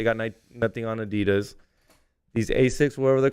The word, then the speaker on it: Asics: Asics, basics. Asics.